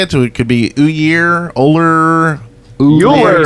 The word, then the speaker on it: Ullr: It could be Ullr. Ullr. He says it in game. He just says Ullr. Ull. Doesn't even pronounce the R.